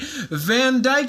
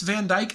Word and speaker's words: Van Dyck: It's Van Dyke, I believe, but it's spelled D-Y-C-K. Van Dyck.